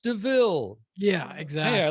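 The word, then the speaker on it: De Vil: up hey i'm in a car it's a devil right it's not it's pronounced deville yeah exactly yeah i like that okay yeah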